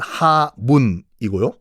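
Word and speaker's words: 厦门: 보건성이 있죠 복건성 보면은 샤먼이란 도시가 있을 거예요 우리 발음은 하문이고요 거기 앞바다에 조금만 섬이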